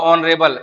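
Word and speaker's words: honorable: ऑनरेबल H silent रहता है।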